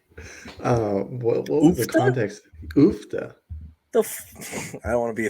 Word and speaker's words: Uff da: Oofta. Excuse me. They use oofta. The fuck does that mean? Excuse my Like, no offense to anybody. what was the Oofta? context? Oofta.